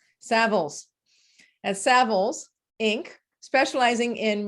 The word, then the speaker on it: Savills: Marcus has served as a corporate managing director at Savills. I said it wrong. Savills.